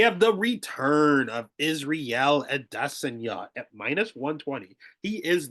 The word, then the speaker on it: Adesanya: with Adesa and no I know everyone says Anna he himself said it was Adesa so that's the way